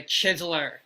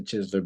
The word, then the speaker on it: Chizeler: got to check out this man's Instagram the chisler it's spelled t h e c h i z e l e r the chisler all right so yeah it's actually definitely is